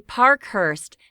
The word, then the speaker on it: Parkhurst: It should be Parkhurst. That's p a r k h u r s t.